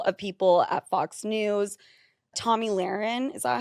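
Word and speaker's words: Tomi Lahren: Tommy Lahren, is that how you say her name?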